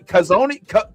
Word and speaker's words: Ko'Zeine: All right, these words sometimes they're hard to pronounce. Ooh. Ooh. Can somebody Cozine?